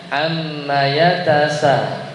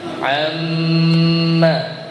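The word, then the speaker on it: عَمَّ: gunahnya itu tidak ditahan jadi rata-rata bacanya ammaatasa ammaatasa padahal seharusnya harusnya gimana Amma Amma gunah itu ditahan sekadar kurang lebih tiga L tiga tiga ketukan jadi jangan buru-buru Amma Jadi dibacanya Amma yatasalun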